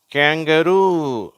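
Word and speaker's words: kangaroo: Tooth, Moon, spoon, tool, screw, clue, blue, clue, crew, who, zoo, shoe, true, two, through, bamboo, கேங்கரு. இதை நிறைய பேர் கங்காருன்னு சொல்கிறாங்க, தமிழில் அப்படி சொல்கிறாங்க, ஆனால் ஆங்கிலத்தில் கேங்கரு அப்படின்னு உச்சரிக்கப்படுகிறது.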